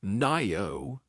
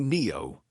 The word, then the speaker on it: Ngaio: Anyway, at least I got Nio Marsh. I think Nio Marsh, I think. No. It's a Maui name apparently. We The G is silent.